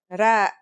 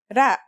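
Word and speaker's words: راء: Our first letter is Ra. Its closest English counterpart is the letter R, but it's a different sound that must be learned. Ra.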